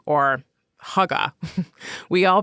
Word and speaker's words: hygge: And in came Heay or Higgy or Haga. We all pronounce it wrong, but you've probably seen it.